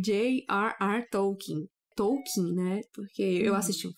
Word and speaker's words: Tolkien: Tu lembra a pronúncia as pessoas falam tipo token porque parece que na língua inglesa Esse é a pronúncia que a pessoa vai pensar de primeira né mas não é assim que fala o nome dele é tokin E aí estamos aqui